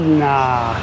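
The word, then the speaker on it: นะ: So what I recommend you do, a more polite way is add the word Na, n a a.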